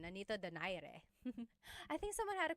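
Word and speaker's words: Nonito Donaire: So our first poll here is going to be Manny Pacquiao versus Nonito Daire or is in in the Tagalog uh pronunciation Nanito Dere.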